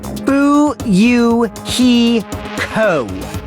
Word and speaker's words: Fuyuhiko: last name is my first name is pronounced boo you he co i'm still an experienced member of my family's